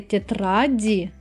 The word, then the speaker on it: тетради: But when I say тетради, I pronounce clearly the letter D.